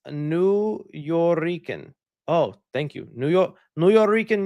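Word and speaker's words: Nuyorican: By the way, it's pronounced New Yorican.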